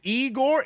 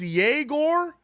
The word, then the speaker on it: Egor: It's not even Igor. It's Yegor.